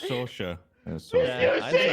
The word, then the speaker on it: Saoirse: It's Saoirse. Yeah, I think it's Soares. But it's like that. I think it's all right. First of all, it's Saoirse Ronan, not Soares.